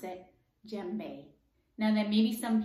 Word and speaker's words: djembe: time of the week is done but you pronounce it djembe now there may be some people who say